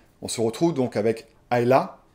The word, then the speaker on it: Isla: On se retrouve donc avec Aa. C'est isla mais ça se prononce A.